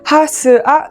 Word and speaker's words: HASUA: ブランドの名前が H A Sua でハスアと読みます。